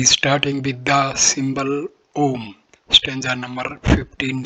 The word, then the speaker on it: Om: Pronounced Om as in home.